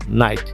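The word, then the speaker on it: knight: দেখো এখানেও কিন্তু কে এবং এন পাশাপাশি রয়েছে। তাহলে আমরা কি জেনেছি, কে এবং এন পাশাপাশি থাকলে কিন্তু সাধারণত কি বসে না, সাধারণত কে এবং এন পাশাপাশি থাকলে কেটা উচ্চারিত হয় না, উচ্চারণ হবে ন। নাইট।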